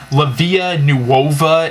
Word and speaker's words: Vita Nuova: name of this book, but I believe it's pronounced Vita Nuova, and it's written by Dante Alighieri.